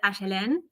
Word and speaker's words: Aelin: We pronounce it like Argentinians. not like in Spanish people. From a particular part of Yeah. Argentina. We said Aelin. Aelin? Aelin? Yes, Okay. but Aelin is also fine, or wherever.